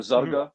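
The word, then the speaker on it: Zarqa: his last name was zarkawi comes from a city in Jordan that he's from called zarka or zaga like it's pronounced with the G and that city is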